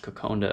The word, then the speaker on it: kokoda: a dish called coconda i believe it's spelt kokoda but it's pronounced coconda if i remember correctly